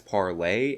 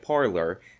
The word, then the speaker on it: Parler: and unfortunately Lauren Chen was completely incapable of pronouncing it as parler and because she was so bad at it and she kept pronouncing it parlor the entire company actually changed the name of